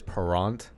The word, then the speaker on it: Parent: It's French Canadian, so Yeah. like the proper way to say it is Parent.